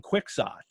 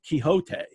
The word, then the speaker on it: Quixote: i'm pretty certain that especially at that time it was don quixot and and people then in the 18th 19th century didn't say quixote no hote has it